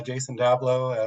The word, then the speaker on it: Jason Dablow: doing with intervision yeah absolutely um so you pronounce my name correctly nick uh Jason dablo a principal engineer here at Tren micro I've